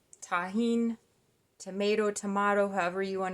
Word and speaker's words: Tajin: it's almost empty by the way it's called Tajin tahin tomato tomato however you want to pronounce it pour a little bit of this